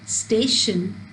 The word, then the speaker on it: station: When we speak the word station, the stress is on the first syllable, stay.